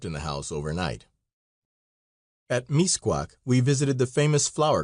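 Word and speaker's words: Mixcoac: An American wanted to see Misquac, pronounced misquac.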